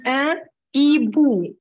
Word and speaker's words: un hibou: Le H dit ولاد silent, مش هنطقها. هنقول un hibou.